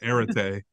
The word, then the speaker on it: Arete: The I call it the Arete, but it's the Arete.